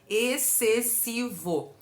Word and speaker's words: excessivo: se faz a leitura excessivo nós não pronunciamos o x nesse dígrafo que é o XC o x não tem som a palavra excessivo vem